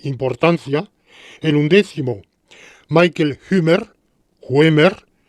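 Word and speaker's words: Huemer: en 11º michael gamer waimer es un apellido germánico por tanto ue se pronuncia en alemán el primer es un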